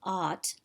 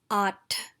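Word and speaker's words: आठ: word so it's not ought like i ought to go to the store today it's at there's a ha sound attached to the ta which is really important for correct pronunciation so it's not like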